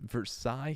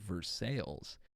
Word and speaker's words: Versailles: Look at how they pronounce Versailles. For God's sakes, Versailles here is pronounced like Versailles.